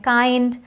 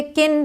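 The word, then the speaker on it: kind: और भी वर्ड्स हैं काइंड माइल्ड इसे किंड और मिल्ड नहीं पढ़ेंगे काइंड माइल्ड ग्राइंड वाइल्ड तो एक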